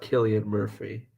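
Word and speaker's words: Cillian Murphy: it is Killian yeah I think it's pronounced Killian Murphy it's an Irish actor okay I don't watch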